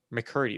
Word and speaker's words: McCurdy: McCurdy.